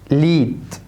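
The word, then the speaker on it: Lied: ليد، ليد، ودي ني، برافو عليك.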